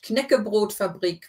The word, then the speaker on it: Knäckebrotfabrik: So you do need to pronounce the K as well. It's not a silent K like in English. Knäckebrotfabrik Barilla Wasser Deutschland GmbH.